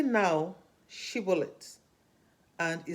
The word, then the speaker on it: Shibboleth: They asked him to pronounce Shibboleth, and he said Sibboleth because he couldn't pronounce it, and they slew him.